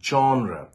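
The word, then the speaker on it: genre: অফ দা word from দ্যা alternative গিভেন below জনরা এটার উচ্চারণ হাজার মানুষ হাজার রকম ভাবে করে জি ই এন আর A actually R ইটস a French word জ বলে কিন্তু এখানে আমরা ইংলিশে যখন বলবো জনরা বলবো জনরা মানে হচ্ছে একটা পার্টিকুলার টাইপ ধরুন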